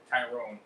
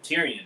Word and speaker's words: Tyrion: So, Jorah in Tyrone or Tyrion. Sorry, I always keep pronouncing that wrong. Tyrion.